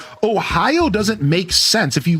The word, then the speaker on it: Ohio: It looks like it's oi o. Yeah. Like why why why do we pronounce Ohio as three separate syllables? It doesn't even look like it requires that.